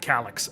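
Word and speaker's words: Calyx: I said Calix.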